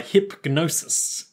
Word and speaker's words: Hipgnosis: than by Hipgnosis okay the G is silent there but I wanted to pronounce it so that if any way any enterprising listeners wanted to look it up they wouldn't just type hypnosis yeah question is it